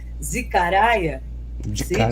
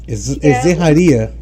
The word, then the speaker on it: Zecharia: Mas eu costumo usar, como eu detesto aquela pronúncia americana do History Channel, né? Que é Zecharia. Eu acho demais. Palavrão, né? Então eu prefiro usar a forma como a família dele chama. Zeharia. Zeharia. Zeharia, porque ele é russo.